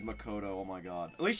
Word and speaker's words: Makoto: houses um lakota the way she just said makoto oh my god at least she knows how to pronounce it that's good um um listen you